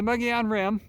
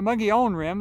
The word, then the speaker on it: Mogollon Rim: What you're looking at over here is the Mogollon Rim, or the Mogollon Rim. Either pronunciation is correct. The Spanish pronunciation of Mogollon is probably more accurate.